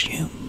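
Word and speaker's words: Douglas-Home: I think it's pronounced Douglas Hume, but it's spelled home.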